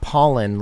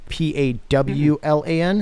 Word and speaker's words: Pawlan: While I'm thinking about it, your last name is not Pollen, like Poll. It's Pawlan. Is that right? That's right. Yeah. That's right. So Pollen, Pawlan. Pronounced the same, but less sneezing involved.